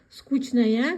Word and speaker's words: скучная: Произнесите правильно. Пишется скучно, говорим скучно. Скучная, говорим скучная.